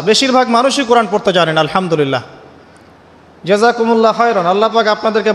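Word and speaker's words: الحمد لله: আলহামদুলিল্লাহ। এই হা এর মাখরাজ কোথায়? হা এর মাখরাজ কোথায়? বলেন একজন কন্ঠনালীর মাঝখান থেকে এখান থেকে আপনি উচ্চারণ করছেন আলহামদুলিল্লাহি রাব্বিল আলামিন অর্থ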